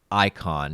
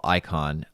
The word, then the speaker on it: Icahn: investors pronouncing it wrong it's not i ichan it's not el la chan or whatever it's icon it's carl icahn uh he likes to